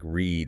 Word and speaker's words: read: Pronounced like read in a river. Long E sound. Okay, Ritz. But the past tense. I read a book yesterday. Pronounced like the color red. Short E sound.